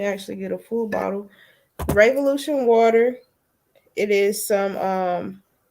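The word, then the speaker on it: Re-volution: website is revolution well it's pronounced revolution but it's spelled like revolution r e dash v o l u t i o n water dot com um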